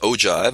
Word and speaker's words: ogive: with a rather weird name it's called an ogive it's pronounced ogive and spelled og iv'e it's not a word